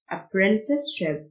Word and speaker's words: apprenticeship: الاستئتش تنطق شهد Apprenticeship.